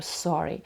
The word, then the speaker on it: sorry: ми вимовляємо там само цей звук Де ми вимовляємо українське р я картавлю але так як ви вимовляєте українське р так само ви вимовляєте американське р але без вібрації Sorry Sorry So Sorry